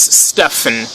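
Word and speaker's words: Stephen: autistic his name is Stefan Wilshire or Steven Wilshire I consider it as Stefan you know the pH the pH part of his first name f the F sound yeah Stefan wilcher but I really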